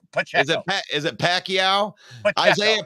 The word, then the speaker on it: Pacheco: Pacquiao? Pacheco.